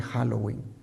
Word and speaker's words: Halloween: el paso del tiempo la pronunciación se fue deformando de all hallow ev y pasó a all hallow even even y finalmente Halloween Halloween adoptó costumbres y ritos